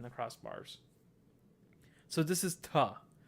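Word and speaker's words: त: So this is ta. To pronounce ta, think of the word think, T-H-I-N-K. But instead of saying think, say tink, ta, ta, tink, think, tink.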